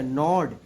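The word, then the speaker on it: gnaw: नॉड, यानी कुतरना। No miss क्या होता है? कुतरना। GNW, जी साइलेंट हो जाएगा यहाँ पे आपका।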